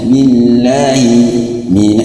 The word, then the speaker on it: billahi: Maka cara bacanya billahi, jangan terlalu panjang.